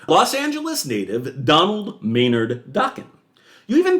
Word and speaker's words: Dokken: 1979 under his surname, Dokken, which indeed rhymes with rockin'.